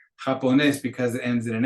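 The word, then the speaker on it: japonés: different rules of pronunciation japones because it ends in an S but the accent the emphasis on that last syllable requires an accent on that e to make it happen s but because we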